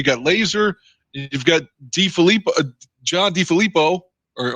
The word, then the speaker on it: DeFilippo: I mean, you've got, like you said, you got Lazor, you've got John DeFilippo, or am I saying it wrong? Whatever. No, you got it.